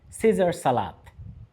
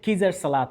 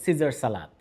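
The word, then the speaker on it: Caesar salad: এবার এই শব্দটি খেয়াল করুন, এই শব্দের উচ্চারণ হচ্ছে সিজার সালাদ। খেয়াল করুন, এখানে সি এর পরে এ ই একসাথে রয়েছে, তাহলে এই সি এর উচ্চারণ হবে দন্তস্বরের মতো। এটা কিজার সালাদ হবে না, হবে সিজার সালাদ।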